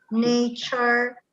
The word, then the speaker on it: nature: Allora, innanzitutto future, la finale char si legge char, future, nature, literature, questo finale ture diventa char, future.